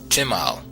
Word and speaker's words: simal: An Arabic term is simla, plural simal, pronounced chimal, meaning a garment in